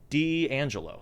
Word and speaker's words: D'Angelo: No, people say people mispronounce all the time. The whole time I was like in boot camp, they called me Dangelo because they don't put